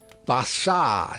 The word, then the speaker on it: Barsad: "Bassard," said Defarge, making it French by pronunciation.